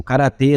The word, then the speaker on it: Gaya: histórica da transferência do karatê da Coreia para o Japão faz alusão ao nome do reino ou confederação de Gaia, que, como vimos, pode ser pronunciado também como Kara.